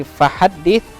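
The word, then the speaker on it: فَحَدِّثْ: Nah, kemudian di fahaddits.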